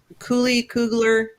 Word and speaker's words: Coogler: Is it Kugler? No, it's Tanasi Coat. I can't pronounce his name. It's not Cooler again, though.